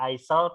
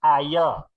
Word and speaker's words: aisle: Jadi ini tidak dibaca aisle atau dibaca aisel, tapi dibaca ayel. Huruf S-nya tidak dibaca ya, ayel.